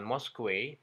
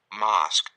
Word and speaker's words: mosque: Dibaca juga harusnya kata ini hanya dibaca Mars bukan Mosque tapi Mouse kita cek Mas Mas Jadi bukan Mosque atau meski tapi hanya Mask The Mask Oke kita lanjut